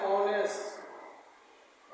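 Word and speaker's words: honest: एच ओ एन इ एस टी एच से शुरू है। एच क्या है? कसोनेंट लेटर है। एच क्या है? कसोनेंट लेटर है। लेकिन इसका उच्चारण हो जाएगा एक्सीलेंट है। ऑनेस्ट ऑनेस्ट एक्सीलेंट है। किससे लिखा गया? ओ से लिखा गया। इसलिए इसमें हो जाएगा एन ऑनेस्ट।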